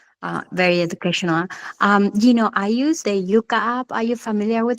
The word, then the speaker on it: Yuka: I use the Yuka app. Are you familiar with that? No. Which one? It's spelled Yuka like in Spanish, like I like Yuka. Uh-huh. Y-U-K.